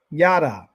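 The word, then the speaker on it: ידע: here called da, so it's ya, right here, ya, ya, which is right here, ya. That's how you say it. And the next one is da, right here, da, yada.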